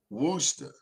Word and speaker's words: Worcester: No, he's in Worcester County. Worcester. That's how you pronounce it.